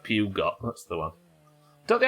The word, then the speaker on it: Peugeot: How do the French pronounce P-E-U-G? Peugeot.